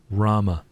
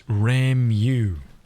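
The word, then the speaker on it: Ramuh: Rama. That's it. No more of this Ramu. Okay? It's Rama. End of story. End of discussion. You gotta pronounce it like the way they say it.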